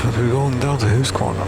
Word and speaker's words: Huskvarna: Stiga is brackets, yes, Huskvarna or Huskvarna, or however the hell you want to pronounce it. It's Huskvarna, House Mill or something.